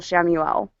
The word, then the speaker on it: Chamuel: So if you're ever having trouble in any of that, call on Heavenly Archangel Shamuel. And you can look him up. It's spelled Chamuel.